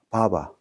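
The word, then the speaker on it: بابا: 그럼 같이 읽어보면 바바, 아빠를 지칭합니다. 파파. 아랍어에는 P 발음이 없습니다. 그래서 바로 발음합니다.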